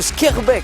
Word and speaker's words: Schaerbeek: Voici Joris de Schaerbeek, je prononce bien, hein, oui.